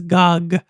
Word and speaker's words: GOG: I can never say that word. People pronounce it as COG, but I pronounce it as GOG.